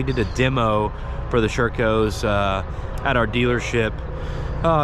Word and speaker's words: Sherco: you're in the u.s i've heard it pronounced circo i've already pronounced sherico for consistency's sake i'm just going to say sureco uh for the first